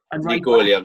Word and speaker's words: Neco Williams: more in midfield, because is it Neco Williams or is it Nico Williams? How do you say it? Nico Williams, Welsh boy.